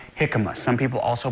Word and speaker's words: jicama: in the world is that this is called hikma some people also pronounce it ikma it is a root it is a root